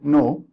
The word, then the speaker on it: know: Okay, K is silent here. We don't say know. We say know.